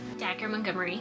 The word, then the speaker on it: Dacre Montgomery: Dacre Montgomery *watching interview to learn how to pronounce his name* Dacre Montgomery.